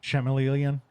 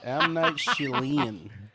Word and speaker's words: Shyamalan: definitely agree that that Chameleon. Chameleon. God, now that I said his name wrong, Shyamalan? what is his real Shyamalan? name? M. Night M. Night Shyamalan. Shyamalan? M. Night Stop! Don't. M. Night Shyamalan.